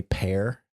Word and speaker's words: Per: yes, I think it might be Pear, like PER is pronounced Pear.